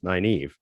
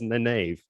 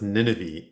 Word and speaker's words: Nynaeve: Because I did pronounce it as Nynaeve for quite some time. I don't know. For me, when I read it the first time, it was Nineveh.